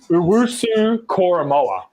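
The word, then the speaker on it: Owusu-Koramoah: It's pronounced Owusu Koromoa. Yeah, I'm going to call him Jock.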